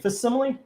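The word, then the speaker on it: facsimile: And then we have X-Men 137, the faximile. Facimile. Facim. Faximile is the word. See, I've been saying it right.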